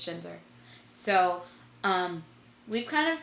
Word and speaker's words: Schinzer: schinzer was in it is it Shiner I keep calling him I originally called him schneer and it is not how you say it it is Shiner so um we've kind